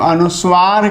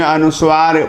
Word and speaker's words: अनुस्वार: लिए कहते हैं लेकिन इसका शुद्ध उच्चारण जो हेयर शुद्ध शब्द जो है अनुस्वार है कि यह ध्यान में रखना है अनुश्वर इसी को हम लोग और मौखिक उच्चारण में अनुसार बोलते हैं अनुसार यह शुद्ध नहीं है अनुसार वीरवार को हम